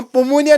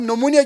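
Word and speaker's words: pneumonia: इसी तरह मिसाल के लिए हम पोमोनिया नहीं कहते हैं, हम नमोनिया कहते हैं। प साइलेंट, पी साइलेंट।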